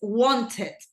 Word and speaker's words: wanted: Aquí sí es wanted. Cuando un verbo termina en T y obviamente se le agrega ed, ahí sí la pronunciación es obvia.